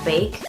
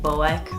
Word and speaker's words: Boeck: middle name and yes my last name is pronounced bake like bake a cake a lot of people think the OEC k is like Boeck or I've heard everything but it's baked number two my favorite